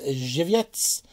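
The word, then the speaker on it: Żywiec: Just kidding, I know how to pronounce this one. This one is Zhivets.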